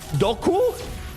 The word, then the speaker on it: Dooku: For example, did you know that Dooku was actually pronounced Doku?